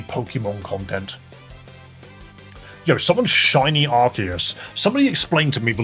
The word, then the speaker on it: Arceus: The plural for Arceus is Arceai? It would just be Arceus. There, the Arceus, as opposed to the many Arceuses.